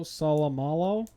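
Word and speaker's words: Seumalo: Then they signed Isaac Salamalo. Salamalo. Yeah, that's how you say it.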